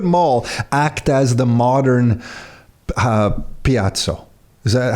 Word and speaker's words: piazza: Mall, and Rockwood Mall act as the modern Piazza.